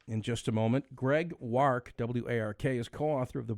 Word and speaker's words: Wark: name I work work it's it's war with a K work okay excellent yeah appreciate